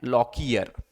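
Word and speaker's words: Lockyer: यहाँ पे प्रोनाउंसिएशन है, जॉनसन एंड लॉकियर।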